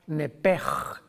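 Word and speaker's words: נפש: La palabra vida en Levítico 11:17, si no me equivoco, es la palabra nepej, que se escribe nepesh en el hebreo, que es la traducción que se usa para designar el alma humana.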